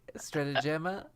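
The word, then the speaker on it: Strategema: gaming like that of strategima right stratagema yup i didn't write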